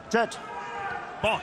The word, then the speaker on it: Bonte: Bonte, excuse me. The E is silent.